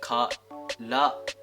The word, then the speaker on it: karate: I know that, but in Japanese we pronounce like karate.